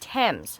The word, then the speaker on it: Thames: how you say that t-h-a-m-e-s the Thames River uh the famous Waterway of the city it's pronounced Thames said granny no matter how it's spelled okay Thames Granny says